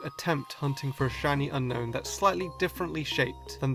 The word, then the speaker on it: Unown: of time hey Alex I just looked up unknown in the Pokédex 3D Pro app and did you know that the correct pronunciation is actually unowned you number six my loic